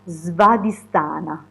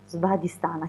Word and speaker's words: Svadhisthana: quasi a pronunciare, ma vediamo se si chiama Svadhisthana. Svadhisthana, chiaramente non garantisco sulla pronuncia, però questo centro insomma ha questo simbolo